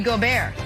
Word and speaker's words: Gobert: Also, guys, important to note, fun fact, in French, Rudy Gobert is pronounced Rudy Gobert.